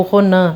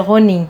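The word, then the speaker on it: ronin: existe uma distinção entre samurai e ronim ou ronan, né? Enfim, acho que no geral se pronuncia ronim, né?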